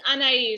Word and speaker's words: Anahi: uh yes okay so anahi am i saying your name right it's unnaive so it's a silent h but that's close oh